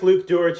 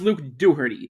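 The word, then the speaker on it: Luke Dougherty: Before I start this video, I want to make it clear that I like Luke Dor's videos. Actually, his name is pronounced Luke Dooherty.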